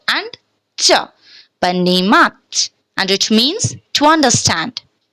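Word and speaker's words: понимать: Panimat. Panimat. Panimat kyun instead of ponimat? We are pronouncing panimat because first rule, O is unstressed, so the sound will be a.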